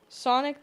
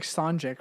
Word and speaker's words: Sonic: Sonic the Hedgehog 3. You stumbled on. You said Sanjik or something.